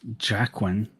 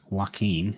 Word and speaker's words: Joaquin: australia right now um he's not pronounced jacqueline it's called joaquin he said jacqueline that's